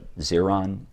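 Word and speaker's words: 自然: is called um again not the totally correct tonal pronunciation but their term for nature is uh zeron but that's translated to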